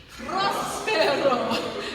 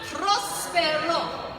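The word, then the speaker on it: próspero: Prospero. You've got to roll your R's, and you go ro, not ro, with an Aussie diphthong. We go ro. Prospero.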